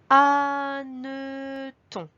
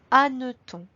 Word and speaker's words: hanneton: Nous passons ensuite au mot hanneton. Comme pour le mot hérisson, on retrouve ici un H muet au début. Ensuite, on remarque qu'il y a 2 N à hanneton.